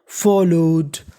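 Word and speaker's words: followed: फॉलोड, अब याद रखना है आपको, इस मीनिंग के आखिरी में लिखा है ED। अगर आपको इंग्लिश में कभी ED लिखा मिले तो उसे पढ़ना होता है डा, और यहाँ पे L 2 बार लिखा है। और इंग्लिश का एक रूल होता है, रूल ये होता है कि अगर कोई भी लेटर यानी कोई भी अक्षर 2 बार लिखा मिल जाए तो उसका उच्चारण केवल एक बार करना होता है।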